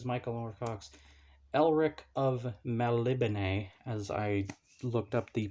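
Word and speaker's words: Melniboné: well this is michael or fox elric of malibune as i looked up the pronunciation for that one and yeah it says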